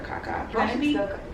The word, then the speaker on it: CahCah: You guys may know her as CahCah, but we have to call her Kayla because if y'all don't know, she doesn't like me to call her CahCah.